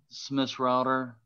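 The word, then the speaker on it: Schmissrauter: the record please yes my name is smith's router do you want me to spell it please it's a difficult spelling yeah s-c-h-m-i-s-s-r-a-u-t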